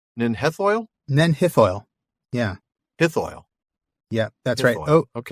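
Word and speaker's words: Nen Hithoel: And I'm going to maybe mispronounce this, but you're going to help me on it. Ninhethwell? Nenhithoil.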